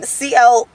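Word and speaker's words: Sea-El: So the face scrub that I use it's spelled Seal, but it's spelled S-E-A. Then there's a hyphen E-L. So it's like C, like C. Get it? Right? No? Okay. Anyway, CL Coconut Kiwi Face Scrub by iHerb.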